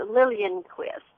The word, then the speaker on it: Liljenquist: my last name, but the J is silent, but that's okay. It's a Liljenquist.